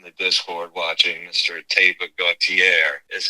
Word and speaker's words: Gautier: Teba Gautier, is how you pronounce Gautier.